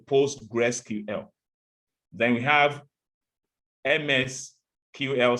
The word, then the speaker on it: PostgreSQL: you're talking about but if you want to pronounce it in full you say postgresql then we have ms